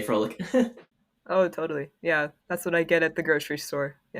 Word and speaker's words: Froelich: I don't think I pronounce it right, but it's Froelich. Oh, Froelich. So not Froelich, Froelich. I don't know. If you ask a German person, they'll probably correct me, so I wouldn't trust me.